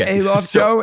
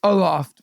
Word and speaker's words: Aloft: that's aloff Ikea's Hotel it's not alof show it's Aloft by the way I